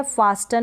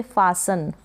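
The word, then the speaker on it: fasten: फिर ये है फास्टन, नहीं प्रोनाउंस करेंगे, फासन, फासन क्या हो गया, फासन। ई एन को लास्ट में ई एन है, इसको आप अन करके प्रोनाउंस कर देंगे, एफ को फ, ए को आ, एस को स, और ई एन को अन। फासन का मतलब बांधना या कसना, फासन। फास्टन नहीं पढ़ेंगे इसको आप।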